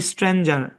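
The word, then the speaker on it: stranger: এই শব্দের উচ্চারণ হয় স্ট্রেঞ্জার কি হয় স্ট্রেঞ্জার কিন্তু আমি আপনাদেরকে দুঃখের সাথে জানাচ্ছি এখানে কে লং সাউন্ড দিবে কেন দিবে ভাই নিয়ম নাই কোন দিবে আর কি মানে বিদেশীরা কইছে লং সাউন্ড দিবে আমার দায়িত্ব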